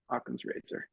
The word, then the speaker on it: Okom: you I was like I was calling it okum and then I heard Chris and I was like he definitely said a yeah exactly yeah aam Razer and I spell it